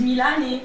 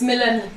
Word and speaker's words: Mélanie: The accent of Melanie. the French township Okay. is Milani. Because it's an Arabian culture. Arabic. Oh, Milani. No, it's Mélanie.